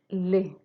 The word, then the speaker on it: les: So instead of an S sound, it's Z sound.